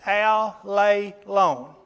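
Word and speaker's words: ἀλλήλων: verses is the word alelon. Had to pronounce it carefully because I've said it wrong for 25 or 30 years. But it's alelon. Alelon.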